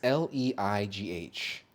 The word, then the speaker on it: Leigh: I don't know if it's pronounced Lee. It's Leigh.